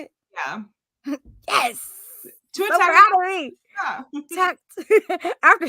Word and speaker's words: Tagovailoa: Tua Tagovailoa.